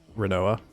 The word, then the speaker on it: Rinoa: Renoa.